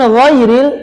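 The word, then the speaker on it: غير: Kemudian ghairil ingat gho tebal gho gho tapi enggak ngorok. Kalau ngoro kan cendung ke ko ini enggak ggak boleh juga jadi ggak ada tapi gho gho gho ghairil ghairil yanya ringan lembut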